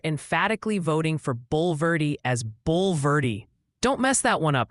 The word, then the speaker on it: Bulverde: Bernie is apparently Bernie, like the sandals, and they're emphatically voting for Bulverde as Bulverde.